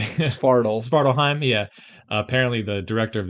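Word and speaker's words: Svartalfheim: there's a dwarf that spits on you and Startelheim, I forget how you say it. Svartalheim, yeah.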